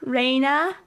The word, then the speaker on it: Reina: Well, you know, Ray, say it like Rene. Okay. Rene. I like it. It's funny because uh na Reina. Not nay.